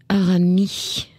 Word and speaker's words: Aramis: Émission Au-delà du miroir avec Jean-Louis Arami. Il y a un S à la fin qui ne se prononce pas.